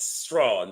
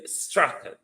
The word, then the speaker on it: Strachan: Ryan Strachan, you call it Strawn, but the British pronunciation for the spelling, sir, is Strachan.